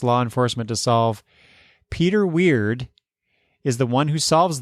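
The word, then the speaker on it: Wyrd: Weird. But it's spelled W-Y-R-D. Or is that word? No, I think they're going for weird.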